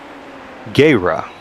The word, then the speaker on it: Guerra: Guerra. I believe is the correct pronunciation. And they say to roll the R's, but we're from Illinois, so we are going to go with Guerra.